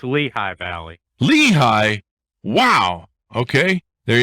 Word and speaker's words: Lehi: lehigh as well and it's pronounced l-e-h-i but clearly i know